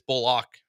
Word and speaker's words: Bullock: that's one corner Chang the pronunciation of his last name I I think it's it's bulock officially okay because he's locking